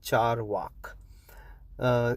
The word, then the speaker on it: Charvaka: the Charvak philosophy, okay, it's called Charvak. It's spelled with a C on with a dash on top. Charvaka.